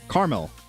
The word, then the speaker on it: caramel: The second A in caramel is silent.